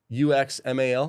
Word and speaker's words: Uxmal: It is Uxmal, UXMAL. How do you say that? Uxmal. Uxmal? Usman.